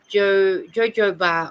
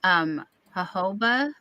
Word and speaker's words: jojoba: Oh, you might have heard it pronounced, jojoba. I know it's a weird way to spell it, but they say it jojoba.